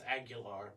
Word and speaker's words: Aguilar: It's Aguilar, but okay. But it's spelled like Aguilar.